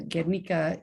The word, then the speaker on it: Guernica: get Rika and um the getnika is the pronunciation and spelling of a town that